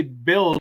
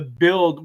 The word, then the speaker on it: BUIDL: I always just go ahead and say build, because I've always felt like it was a play on words.